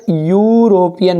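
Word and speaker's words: European: क्या जाएगा ए, क्यों, क्योंकि नाम भले स्पेलिंग ई है लेकिन उच्चारण क्या हो रहा है, यूरोपियन, यू यग आ रहा है, यग, और जिसमें उच्चारण जैसे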